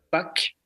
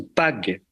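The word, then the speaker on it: pak: Alors, si on remonte à la racine, la paix nous vient plus lointainement de la racine indo-européenne Pâques, P-A-K pour la prononciation, ou Pag, qui signifie enfoncer, fixer, et donc par dérivation, fixer une convention.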